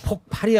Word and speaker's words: 폭발: 지금 폭발이 아니고 네. 폭발로 발음해야 돼. 해보세요. 폭발. 아니 경험으로. 폭발. 허허 쌍비읍 발음으로 하라니까.